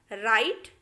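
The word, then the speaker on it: write: जैसे देखिए राइट, हमने राइट कहा, डब्ल्यू बिल्कुल भी नहीं कहा।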